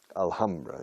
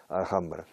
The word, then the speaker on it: Alhambra: Alhambra. En inglés se pronuncia la H en Alhambra. Yo creo que en árabe también. Alhambra.